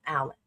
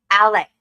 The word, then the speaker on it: Alex: I don't know why he pronounces his name Alec. Because it's Alex.